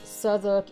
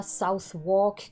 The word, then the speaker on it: Southwark: Ça se prononce Southwark et pas Southwark, comme je l'ai déjà entendu dire.